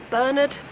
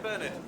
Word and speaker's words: Bernard: story than this man, Bernard Grubb. So vote for a brighter future. Vote Grubb. Question, Bernard. Mr. Grubb. It is pronounced Bernard.